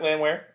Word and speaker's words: Landwehr: I feel like I'm mispronouncing that name. No, you got it, Landwehr.